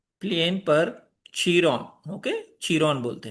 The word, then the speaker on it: Chiron: जो लिखा है किंग कायरन ये वो यह पूरा गलत समझ समझा गया है क्योंकि पहली बात यह कायरॉन या कायरन नहीं है यह चरोन है।